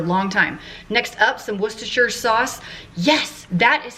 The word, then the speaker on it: Worcestershire: it for a long time next up some worcestershire sauce yes that is how the people from across the pond told me to pronounce it what's the shirt and we're gonna